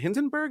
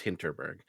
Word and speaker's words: Hinterberg: hitberg H was it hintonburg is that how you pronounce right it's I think it's hinterberg but could beong I could be wrong I think you're right you're right you're right no it's hinterberg um I'm excited about